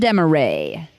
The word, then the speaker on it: Desmarais: special friend with us Desmarais oh that was impressive you pronounced it perfectly did I yes you did well my last name